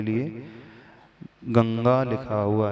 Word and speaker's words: गंगा: और पुनः गा है तो जो बिंदी है जिसे अनुस्वार कहा जाता है वह अनुसार किस रूप में उच्चारण होगा गमगा कहे गंगा कहे गंगा कहे गंगा कहे क्या कहा जाए चकि अंत में अनुस्वार के बाद ग है तो वह क वर्ग का है ग क ख ग